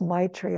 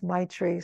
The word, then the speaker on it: maitri: The great need for, I suppose it's pronounced Maitri. I think it's Maitri, so that's a Tibetan word, but it means loving kindness for ourselves.